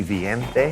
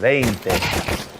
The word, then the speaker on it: veinte: And a lot of times I'll have students when they're learning, spell that V-I-E. And I'll say, wait a minute, wouldn't that be viente? And they, yeah, that's right. Remember to spell it E-I to get that A sound, veinte.